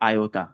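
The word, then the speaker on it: iota: आयोटा। सही है? अगर उस लैंग्वेज के हिसाब से प्रोनाउंस करेंगे तो ये आयोटा और उसका सिंबल आई जैसा था।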